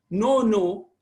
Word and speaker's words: no: N-O, that O is pronounced with a little, the lip, the lower lip pulls towards the left a little bit. Okay, pulls towards the left. So no, this is how it comes. So no.